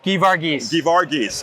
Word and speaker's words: Geevarghese: Joseph Geevarghese. I got to read this. I'm Yeah. so sorry. Joseph Geevarghese. Geevarghese.